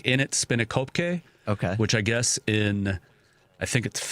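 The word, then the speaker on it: In 't Spinnekopke: kind of pronunciation because it's spelled IN apostrophe T is the first word, and then Spinnekopke. So it's like in it Spinnekopke.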